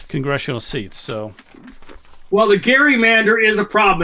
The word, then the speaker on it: gerrymander: So, well, the Gary Mander is a problem. And it's Gary with a hard G. It's named for Elbridge Gary of Massachusetts.